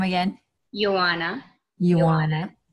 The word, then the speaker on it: Yoana: say your name again you wanna you wanna you are not like Joanna with the why you wanna oh yes welcome and